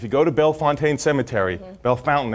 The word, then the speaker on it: Bellefontaine: If you go to Bellefontaine Cemetery, Bellefontaine as the locals say, right, it's a great